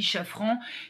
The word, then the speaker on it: Chafran: détective et criminologue lyonnais je vais le prononcer à la française Teddy Chafran qui lui aussi va